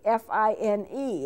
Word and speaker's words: Fine: end of the song when it says fini fi NE it's pronounced VA it's spelled fine and so you